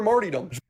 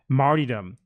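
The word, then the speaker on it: martyrdom: for sacrifice longing for marom okay longing for Mar marom I've never heard anyone pronounce that word that way in my life martydom what he wants to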